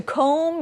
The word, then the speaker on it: comb: You used your comb to comb your hair.